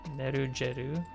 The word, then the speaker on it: Nerugeru: It's hard G in Japanese. It's Nerugeru. And it pronounces it as a hard G. Nerugeru.